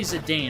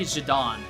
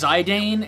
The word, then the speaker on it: Zidane: Same thing with Zedane. I always say Zedane. I don't say Zidon. Say Zedane. I know someone who says Zidane. And honestly, I'd rather take that than Zidon.